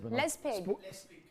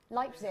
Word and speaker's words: Leipzig: Lespig. You know the ones I call a pig? Lespig. The ones I call a pig. Leipzig.